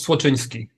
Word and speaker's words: Słoczyński: And last name is super close. It's Słoczyński.